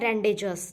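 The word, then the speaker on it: rendezvous: Tryst है जो private meeting है, उसको बोलते हैं रेंडेजस, ठीक है, रेंडेजस, रेंडेजस उसको बोलते हैं।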